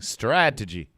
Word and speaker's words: strategy: say it together strategy the stress is in the beginning strategy yeah you got